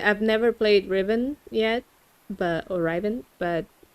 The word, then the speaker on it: Riven: It's pronounced right Rivet right Riven? R I V E N Just like the regular word.